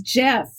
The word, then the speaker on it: GIF: for pronouncing that correctly just like the peanut butter is it gif or Jif it's Jeff the guy who created